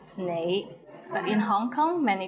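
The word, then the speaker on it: 你: is the word you the right way to pronounce it is nay but in hong kong many people pronounce it as lei how was it pretty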